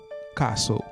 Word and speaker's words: castle: mot ça en anglais, c'est pas prononcer lettre T. Fait comme si lettre T a pas existé même. Pour premier mot, m'a fait comme si T a pas existé. M'a dit castle.